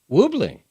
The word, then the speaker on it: Lublin: Most recipes recommend Polish, I'll pronounce this, Lublin. Lublin. Lublin hops. Lublin. Say it again. Lublin. Woobling. Okay. Happen to know that one?